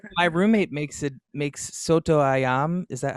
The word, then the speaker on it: soto ayam: love you here my roommate makes it makes soto ayam is that how you say it yeah yes